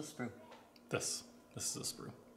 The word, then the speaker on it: sprue: parts what's a sprut this this is a sprue how do you spell it s-p-r-u-e sprue and all the little guys